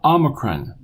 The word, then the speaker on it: omicron: sound Omicron Omicron now this suggests oh isn't obey I don't want you to say it that way I want you to say ah Omicron like OS and bought Omicron Omicron now you've seen this